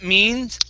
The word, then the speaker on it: means: Okay, next one, that means it will be very close to my home. Okay, make sure to pronounce that S on the end of means.